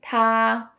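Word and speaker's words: 他: They all share the same pronunciation. Ta, even though the characters are different.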